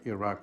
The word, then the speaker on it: Iraq: you say here, but we know that Iraq rhymes with Chirac, so we say Iraq, not Iraq.